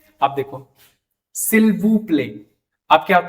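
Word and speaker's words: s'il vous plaît: टी साइलेंट हो जाएगा, तो यहां पे कह सिल्वू प्ले। एस साइलेंट क्यों हो रहा है, क्योंकि वॉवल के बाद एस है, तो उसको हम साइड नहीं करेंगे यहाँ पे।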